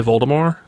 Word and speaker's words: Voldemort: you know didn't rolling originally intend the T at the end of Voldemort's name to be silent but because everyone pronounced